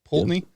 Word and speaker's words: Poultney: Poultney? Yes, sir. Poultney?